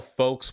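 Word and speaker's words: folx: warning sign right there when you spell folks with an x i'm sorry i don't get this folks was already gender neutral and it's pronounced the same with the ks why x that okay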